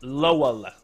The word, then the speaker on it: Lowell: Lowell, I believe it's pronounced. Lowell.